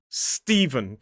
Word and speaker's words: Stephen: And remember, because the S is next to the T, the T starts to sound more like a D. So it becomes Stephen. 2 syllables, stress on the first.